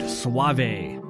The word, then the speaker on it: Suave: Waymond Anderson first achieved notoriety as an R&B singer in the 80s named Suave. That's how he pronounced it.